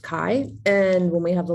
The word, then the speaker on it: chi: It's the Greek letter X, but it's pronounced chi.